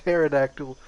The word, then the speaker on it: pterodactyl: It's like, it's a pterodactyl. The P is silent.